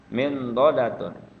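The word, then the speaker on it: مِنْضَدَةٌ: Min dodatun ya, min dodatun, min dodatun.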